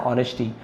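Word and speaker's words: honesty: Therefore, इसलिए, we must always act with ऑनेस्टी, है ना, ऑनेस्टी यानी होता है ईमानदारी से, एच साइलेंट है, ऑनेस्टी नहीं बोलेंगे, है ना, ऑनेस्टी, काइंडनेस, दयालुता, एंड इंटेग्रिटी।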